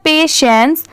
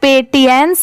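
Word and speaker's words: patience: पढ़ेंगे ऑनेस्टी ये है पेशेंस पी ए टी आई ई एन सी ई इसे हम क्या प्रोनाउंस करेंगे पेशेंस इसे पेटियंस नहीं पढ़ेंगे क्योंकि बहुत सारे लोग इसे ऐसे भी प्रोनाउंस करते हैं बट नहीं अगर आप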